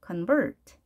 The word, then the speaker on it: convert: 약하게 하시고 vert 올라가는 거죠. convert. 이렇게 발음교를 보고 발음을 정확하게 하셔야 됩니다. 만일 발음교가 없다면 이렇게도 읽을 수 있겠죠. convert도 발음이 되는 거 아닌가 라고 생각할 텐데, 자, 이러한 오류를 범하는 것을 방지하기 위해서 발음교가 있는 거죠. 당연히 뒤에 있다. convert 이렇게 읽어주시면 되겠습니다. convert.